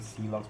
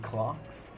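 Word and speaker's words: clox: And we like to pronounce the name C logs, but you can even say clocks, or even clocks, where you pronounce the X like the Greeks do if it makes you happy.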